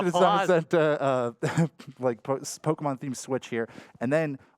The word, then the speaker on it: Zamazenta: over here to Etchy with the Zacian and Zamazenta, right? Did I say it right? Yes, you did. I did. I said it right. Zacian and Zamazenta, Pokemon-themed Switch here.